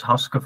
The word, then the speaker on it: Haske: of course uh well my name is hoska from fandal and and to pronounce it in Dutch and um I'm a